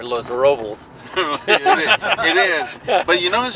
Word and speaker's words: Los Robles: I'm told that's pronounced here Los Robles.